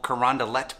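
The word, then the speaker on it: Carondelet: one is pronounced shoto next up is a beautiful park that we call carrandalette park and finally there is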